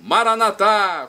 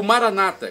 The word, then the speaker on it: Maranata: E agora eu clamo do aramaico, Maranatá, como dizemos nós católicos, ou Maranata, como dizem nossos irmãos separados, os evangélicos ou protestantes. Não importa a pronúncia, o significado é o mesmo.